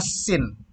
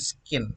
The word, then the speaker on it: scene: ya dalam sebuah objek tapi ini adalah sin bukan skin ya jadi Bacanya jangan